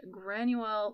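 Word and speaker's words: Granuaile: And that would be the barmaid, Granuel McTiernan. Yeah, you did it. You pronounced it.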